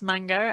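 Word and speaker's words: Mago: It's not spelt mango, but it's pronounced mango, and it's in the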